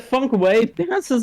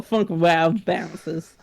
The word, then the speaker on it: Funk Wav Bounces: Is it funk wave bounces or funk wow bounces? Wave. Okay, even though there's no silent E at that.